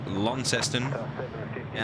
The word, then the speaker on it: Launceston: coming in from and I can't believe I'm gonna have to pronounce it like this Launceston in Tasmania because you would say normally what lanston lanston yes named after a uh a large town in Cornwall you can't say that